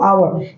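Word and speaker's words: hour: ठीक है, तो यहाँ पे इसके सामने क्या यूज करेंगे आप दोस्तों, आवर, यानी जो इसका प्रोनाउंसिएट है, यानी साउंड इसकी देखिए क्या है, आवर, यानी यह जो आप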